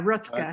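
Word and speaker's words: Roethke: Rothko, I don't quite know how you pronounce his name, R-O-E-T-H. Yeah, Rutger.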